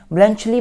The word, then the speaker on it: Bluntschli: देखिए प्रोनाउंसिएशन अलग हो सकती है, BLUNTSCHLI, ब्लंचली बोल रहा हूँ मैं इसको, आप भी देख लेना एक बार क्या प्रोनाउंस होता है। बेसिकली ब्लंचली बनता है वैसे, ब्लंचली।